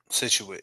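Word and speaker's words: Scituate: We've been friends for a long time, and he is is it Situate? Is that how you pronounce that? Situate, yep.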